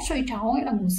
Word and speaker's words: 睡着: Ở đây các bạn sẽ thấy từ này sẽ đọc là 睡着, 睡着 nghĩa là ngủ say đấy.